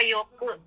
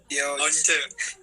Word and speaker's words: Yoce: Yoce apa Yoke bacanya? Yoce. Yoce. Oh, oke.